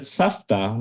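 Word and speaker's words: סבתא: Savta, grandma, is spelled as if it's supposed to be savta. But again, with the voice v, same, but we pronounce it safta because again, the ta,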